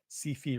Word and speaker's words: SyFy: I mean, SyFy rhymes with iffy.